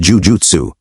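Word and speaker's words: jūjutsu: The double letters indicate a long vowel sound twice as long as a single u letter to be exact.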